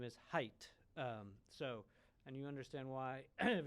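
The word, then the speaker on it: Haidt: You might like to know that John pronounces his last name as Height.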